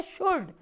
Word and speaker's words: should: एक तीसरा वर्ड भी होता है और वो होता है शुड, SHOULD, शुड। उसमें भी L साइलेंट होता है।